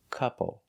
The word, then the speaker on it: couple: Again, we see OU not making the sound ow. It's making the sound couple.